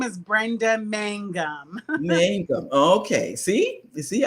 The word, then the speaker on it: Mangum: it wrong here's brenda my name is brenda mangum mango okay see you see i i have